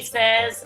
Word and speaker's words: says: Okay, so the word you're trying to say is says. It comes from the word say, but when you're talking about he says or she says, it's pronounced says. It's not says. It's says.